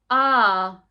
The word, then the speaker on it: path: Sometimes this grapheme can make an R sound. Can you say R? Good job. Let's try reading some words where you pronounce it with an R. Path.